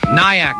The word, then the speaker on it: Nyack: Nyack.